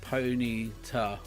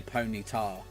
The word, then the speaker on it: Ponyta: are uh Arceus Hardy Kai here I say it Ponyta oh Ponyta like a hard tea is that uh make sense yeah yeah I'll get you yeah see I say ponytail like is you know like tar tarmac tile that's not how you